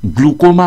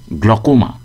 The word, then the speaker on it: glaucoma: একটা কথা বিশেষ করে বলার দরকার যে চোখের গ্লুকোমা রোগকে অনেক মানুষ গ্লুকোমা উচ্চারণ করেন। গ্লুকোমা এটা ভুল উচ্চারণ। সঠিক উচ্চারণ গ্লুকোমা।